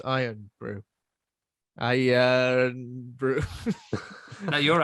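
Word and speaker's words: Irn-Bru: um yeah i mean it's pronounced iron brew i uh bruh now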